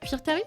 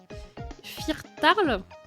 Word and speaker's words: Firtarl: C'est un L. Firtarl, du coup.